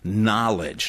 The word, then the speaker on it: knowledge: It's based on secret knowledge, not knowledge, right? The K is silent.